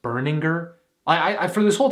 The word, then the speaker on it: Berninger: Also, did you know his last name is pronounced Burninger? I I for this whole time I thought it was Baroner.